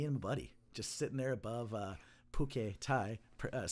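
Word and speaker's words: Phuket: office just me and buddy just they're above pookay thai press spelled phu SI k space IT okay yeah we had a lot of fun or order any food is this tie it's pronounced bouquet okay okay whatever you know so uh but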